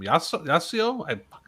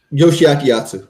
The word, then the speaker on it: Yoshiaki Yatsu: Ricky Chosu and Yostu, I can't pronounce his last name. Yasuo? Yoshiaki Yatsu.